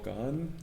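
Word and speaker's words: Gane: beast uh against cyril gone gone is what they pronounce it yeah i always mispronounce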